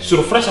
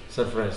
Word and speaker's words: Surfresh: Kita sudah mendapatkannya kemarin judulnya Ini surprise apa surpres Mas dibacanya mas surpres surpres Nah minggu ini bak